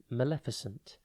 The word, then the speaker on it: maleficent: one word at a time today's word is Maleficent it is pronounced ment and it is spelled m a l e f i c e n t think male then Fi Fi and then scent